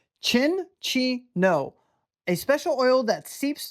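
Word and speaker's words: Cinccino: It is Chin-Chi-No. Chin-Chi-No. Not Sin-Chi-No. Chin-Chi-No.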